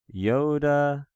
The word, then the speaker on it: iota: This yoda is, in fact, a vowel. It is pronounced either like the E and meet E or like the I and sit.